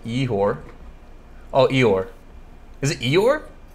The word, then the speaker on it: Igor: If you can pronounce Igor, sounds like Yehor.